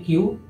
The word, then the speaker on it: queue: Pronunciation is only Q.